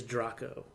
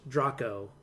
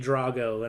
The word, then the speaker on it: Draco: looking at the cast list and it is Drock oh I think they it's pronounced Drock Oh spelled draco like okay I go from that's yeah we've been saying Drago and I didn't feel quite right but yeah